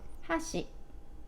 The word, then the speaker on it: 箸: high and everything else is low after that Hoshi and with the protocol Haas you got a